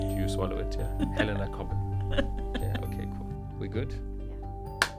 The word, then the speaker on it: Cobban: And your surname, I pronounce it coin. Yeah. Very nicely done. Okay. No, it's I it's British, so Yeah.